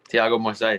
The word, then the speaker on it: Thiago: guys think dylan's dylan's portuguese how do you pronounce that name buddy tiago yeah like that's how you say it we're